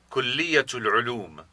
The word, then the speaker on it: كلية العلوم: Notice that when the word for college is said together with another word, the final te is pronounced. Listen again. كلية العلوم.